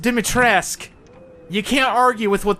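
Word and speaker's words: Dimitrescu: one of them was the pronunciation of dimitresk now I'm kind of a snob for pronunciations I always like it when things are pronounced correctly but if the game says it's pronounced dimitrisk you can't argue with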